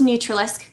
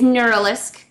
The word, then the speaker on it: Neuralisk: Neuralisk, which I originally thought was Neutralisk. It is Neuralisk from Team Bunnies.